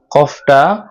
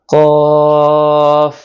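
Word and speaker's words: ك: কাফটা উচ্চারণ করতে হবে জিহ্বার গোড়া থেকে একটু আগে বাড়িয়ে ওই জায়গাটা উপরে তালুর সাথে লাগিয়ে তারপর উচ্চারণ করতে হবে।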